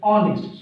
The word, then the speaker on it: honest: किन भएको भने हियर ह sound that is silent. This is not pronounce here. That's we आर not telling here honest, we tell here honest.